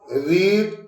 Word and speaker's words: read: इस रीड को रेड पढ़ेंगे और स्पेलिंग लिखेंगे READ।